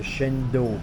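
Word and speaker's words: cendol: Ça s'appelle le Chendol. Alors ça s'écrit C-E-N-D-O-L.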